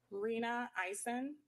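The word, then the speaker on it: Rena Eisen: could you state your uh your name and spell it for the court report reena eisen r-e-n-a-i-s-e-n and dr eisen where are you employed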